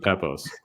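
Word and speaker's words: Pepose: this time next year is it David poos or David pepos it's David doesn't belong you're GNA be telling us how to pronounce names perch I am I'm laying it down I the the king of pronunciation of names me and Oliver capil say it's David pepos all right call him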